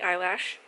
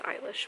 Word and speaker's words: Eilish: i do you like billy eyelash that's not how you pronounce it it's eilish but you know jokes